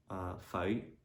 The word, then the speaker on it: faux: The only words which I know in which the letter X is silent is in a word that comes from French, faux, which means like fake.